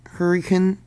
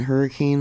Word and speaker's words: Hurricane: Locals pronounce it hurricane, not hurricane like many of us do.